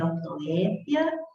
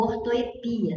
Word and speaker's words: ortoépia: Pode ser ortoépia, com acento no E, ou ortoepia, sem acento. As duas pronúncias são admitidas.